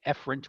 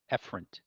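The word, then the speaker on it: efferent: of the two eent afren with an A and Efren with an E so a a a afren Efren e again they're not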